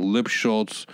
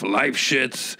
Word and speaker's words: Lipschultz: All I know is I did a couple of TV shows, Star Search, and Ed McMahon kept mispronouncing Lipschultz, Jeff Lifeshitz, this week's challenger, Jeff Lipschitz. And on the flight home, I was like, and it messed me up every time.